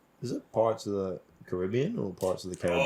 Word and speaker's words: Caribbean: Caribbean is the correct way Yeah, to pronounce it.